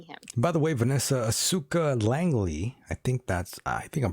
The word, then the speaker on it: Asuka Langley: By the way, Vanessa, Asuka Langley, I think I'm pronouncing that correctly. Asuka.